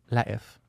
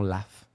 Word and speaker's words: LaF: l'air d'êtreens dire premièrement c'est prononcé la F et non l'F s'il vous PNE à